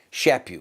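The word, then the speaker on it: Chaput: you pronounce it okay shap you like slap you he was the Archbishop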